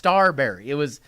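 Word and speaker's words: Starbury: No, it's Starberry. His name is Marbury, and he's a star.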